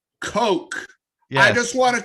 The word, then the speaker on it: Kok: It's that- to me, pronounced Coke. Yes. I just want to clarify for anyone seeing the screen, it's pronounced Woody Coke, Coke. not what you think it is.